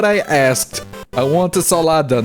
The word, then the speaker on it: salada: Salad in Portuguese is said salada. Okay, it has one extra letter and it's pronounced differently, it's fine. Instead of salad, we say salada.